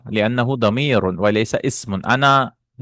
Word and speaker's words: أنا: وَلَيْسَ مِنْ كَذَلِكَ أَنَا لِأَنَّهُ ضَمِيرٌ وَلَيْسَ اسم. أنا, this alif is not pronounced actually.